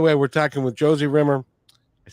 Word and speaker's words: Rimmer: By the way, we're talking with Josie Rimmer.